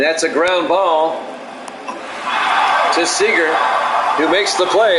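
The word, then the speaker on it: Seager: Council and one to Seeger in their first strike Owen two I think it's pronounced Sager Kyle Sager I'll make sure I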